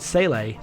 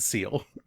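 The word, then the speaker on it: SEELE: the Instrumentality Project and Sele, and no one knows what they want. So is that actually how you pronounce it? Because I've always said Seal. It's Sele.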